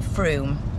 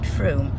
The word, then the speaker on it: Frome: were discovered just outside Froome you see there is a lot going on in through it also rhymes with room Damian says I think we'll leave it anyway see you in Froome by craft hour